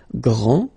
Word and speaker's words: grand: This final D is not pronounced. Okay, so grand, and then the feminine form, grande.